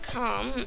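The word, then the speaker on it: Karm: It cut them off, making the islands of Calm, not spelled like calm, like not angry. It's spelled K-A-R-M, and Sap.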